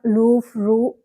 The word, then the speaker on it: Louvre: പോകുന്നത് ലൂഫ് മ്യൂസിയത്തെ കുറിച്ചാണ് ഇതിന്റെ ഫ്രഞ്ച് ഉച്ചാരണം ലൂഫ് റൂ എന്നാണ് ഇംഗ്ലീഷിൽ വെറുതെ ലൂഫ് എന്നും പറയുന്നു മോണോലിസ സൂക്ഷിച്ചിരിക്കുന്നു എന്നതിലുപരി അതിനേക്കാൾ